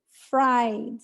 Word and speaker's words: fried: verb is boil boil both verbs end in voiced sounds different than so what you have to add so fried so you practice like